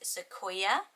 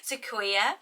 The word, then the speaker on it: Sequoia: So the next name is Sequoia. So this was on so many botanical name lists. It is beautiful written down. Maybe I could have got away with saying this was my cue. Sequoia.